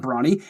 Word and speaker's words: Bronny: That's not Bronny. His name is Bronny. It's spelled like Brony.